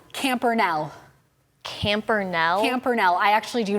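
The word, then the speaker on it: Campernelle: Campernell. N. Yes. Ooh. E. Yes. L. Yes. L. Yes. Okay, final answer? Final answer. You are missing one E. Is there a silent E at the end?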